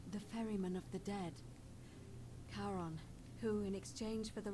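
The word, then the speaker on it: Charon: It's just as you described it, only your pronunciation is a little off. The name you heard wasn't Karen. It was C H A R O N. As in Kon, the fairyman of the dead. Karon, who in exchange for the right coin, helps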